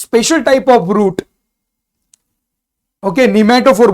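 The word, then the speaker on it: pneumatophore: सो now this special type of root, okay, निमेटोफोर बोलते हैं उसको, क्या बोलते हैं, निमेटो, पी साइलेंट है उसका।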